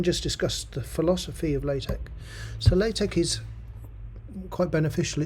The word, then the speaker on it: LaTeX: your thesis so um it's not pronounced it's pronounced latex latch not latex and actually it started off as Tech and